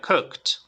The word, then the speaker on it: cooked: sonando con una t está terminando con una t que sería cooked cooked leved y en este